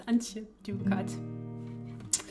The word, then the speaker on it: Antje Duvekot: It's Antje Duvekot.